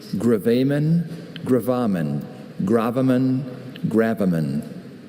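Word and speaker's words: gravamen: Can you repeat all the pronunciations? Graan. Graammen. Graaman.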